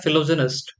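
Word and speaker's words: philogynist: फिलोगैनिस्ट। ठीक है, वैसे इसका प्रोनाउंसिएशन होता है फिलोजेनिस्ट।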